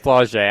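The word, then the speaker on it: Flau'jae: Flauget. I've had to correct myself. Oh, really? Flauget. Because camouflage is to like Flauget?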